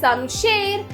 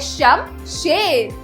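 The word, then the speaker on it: शमशेर: त म खत्म अगला शब्द है समशेर सम शेर तो बच्चों सही शब्द है शम शेर तो इसमें श म श ए र शम शेद जरा रचनात्मक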